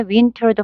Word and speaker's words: winter: winner 이런 식으로 발음하시면 됩니다.